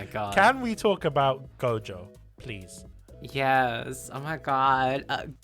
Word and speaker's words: Gojo: I love Gojo. I know earlier on I didn't pronounce his name properly. Yeah, you said Shoujo. Shoujo.